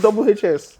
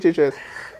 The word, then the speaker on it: Double HS: I pronounce it Double HS. Some people call it HHS.